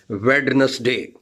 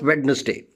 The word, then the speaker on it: Wednesday: Most of the people, they pronounce the word like Wednesday. No, it's not Wednesday. In Wednesday, D is silent, and D is again one of the consonants. D is silent. So this is, the word is actually Wednesday. If we make D silent, so definitely the pronunciation of the word would become Wednesday, because in Wednesday, D is a silent.